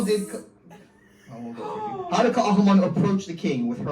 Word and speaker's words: Ka'ahumanu: Ka'ahumanu. Ka'ahumanu is correct.